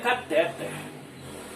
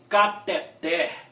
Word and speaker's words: cateter: sem medo de errar o nome desta palavra é cateter a sílaba forte é na final aqui é a final melhor dizendo Ela não é uma palavra paro citon na terminada com R ela é uma palavra